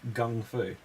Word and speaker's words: kung fu: you're telling me is it's actually supposed to be pronounced like gung fu yeah it's g-o g-o everybody was gongfu fighting right okay so